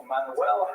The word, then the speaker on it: Manuel: But luckily for today, the only Portuguese king we're going to talk about is Manuel, which is pronounced Frank. No, Manuel.